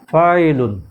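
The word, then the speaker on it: فاعلن: number হলো vial vial ফা উপর জবর খালি আলিফ তারপরে আনজের ই লাম দুই পেশ লুন ফায়েলুন আর ওয়াকফ করলে ফায়েল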